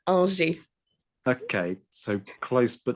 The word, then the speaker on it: Angers: Have I pronounced the surname correctly there? I've tried to go French, and normally when I try to go French, I fail catastrophically. Almost there. It's Angers.